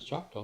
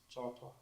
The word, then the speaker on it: Choctaw: A real Choctaw doesn't have a C in it, do they? They say Choctaw. Choctaw.